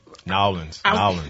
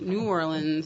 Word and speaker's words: New Orleans: Nowlands. No, you got to say it right. You got to say New Orleans. It's not New Orleans. It's New Orleans.